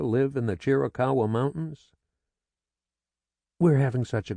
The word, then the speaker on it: Chiricahua: "Chiricahua," she said slowly, emphasizing the cow.